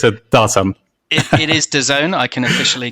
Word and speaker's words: DAZN: song or is it doesn't it it is the zone i can officially call him um apparently there